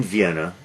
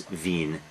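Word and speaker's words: Wien: an old man in vienna virtually the whole film takes place in vienna veen as you guys call it properly because in german it's veen in english vienna at the beginning uh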